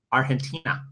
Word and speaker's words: Argentina: Argentina, I believe is how they say it. Yeah, the G turns into an H somehow.